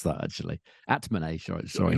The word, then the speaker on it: Atmane: The first round might be tricky against Altmane. I don't know how you pronounce that, actually. Atmane, sorry.